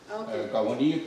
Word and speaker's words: Kawennenhas: Kawennenhas.